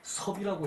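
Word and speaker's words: 葉: 역자를 사람 이름으로 사람 섬으로 쓸 때는 섭이라고 읽어요.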